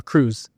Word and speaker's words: Cruz: how do you say your last name uh Cruz easy Cruz um I'm drinking coffee at